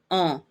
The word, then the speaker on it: on: On. You don't actually go to the N.